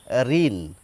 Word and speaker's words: ঋণ: এই ঋ এর উচ্চারণ হচ্ছে পরিষ্কার রহস্য ইকার। ঋণ অর্থাৎ এই শব্দটিকে যদি আমরা র হসই দন্তন লিখতাম উচ্চারণে হুবহু একই হতো এটুকু পরিষ্কার সমস্যা শুরু